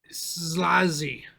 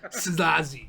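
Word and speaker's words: Szálasi: Should I pronounce his name again? Yeah. Ferenc Szlazi. SZA with a chkunk. Lasi. Szlazi.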